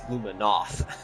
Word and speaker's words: Luminoth: Well, especially if you pronounce it the way I do, it's Luminoth. Yeah, which More sounds, emphasis on that N, so. which sounds really close to Luna moth.